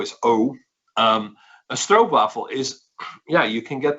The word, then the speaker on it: stroopwafel: but it's a stroke waffle is basically you pronounce it oh a double o iso a strobe waffle is yeah you can get them anywhere in